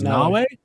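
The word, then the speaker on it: Naoe: Players will experience the intertwined stories of Nawe. Did I get that right? It's spelled like Mayo, but I think they said it was Nawe.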